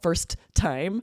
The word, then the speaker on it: first time: When there are two T's together like that, you do not pronounce them both. First time would take too long and would be too difficult. Sounds very unnatural. We drop one of them and we say first time. We link them together.